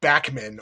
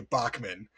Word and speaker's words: Bachman: of this bird uh went by the name Bachman, although most birders you hear will say Bockman.